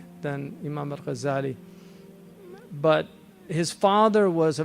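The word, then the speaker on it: Al-Ghazzali: Um some say his name is actually Al-Ghazali with a shadda uh from ghazzal, which is a carter of wool, which um is what his father did.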